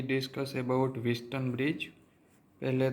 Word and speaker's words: Wheatstone: We discuss about Winston bridge. पहले तो हम विस्टन ब्रिज के जो नेम है उसके प्रोनाउंस के क्लेरिटी कर देते हैं। यह विस्टन ब्रिज का प्रोनाउंस है विस्टन। यहां टी साइलेंट है।